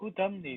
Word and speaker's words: whodunit: W- Whodunit. wa, It's a wa. ah. I How do you call pronounce the it?